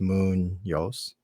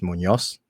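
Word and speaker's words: Muñoz: be friends with uh my last name is spelled differently on there it's spelled phonetically so it's Moon Yos uh so Daniel going back as as far as pronouncing it you you're really really close uh actual pronunciation just like any any uh Spanish name is Munos so it's a little accent right um but yeah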